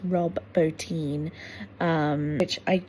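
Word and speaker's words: Bottin: I am now realizing that the surname is pronounced Bin. So it's Rob Bin.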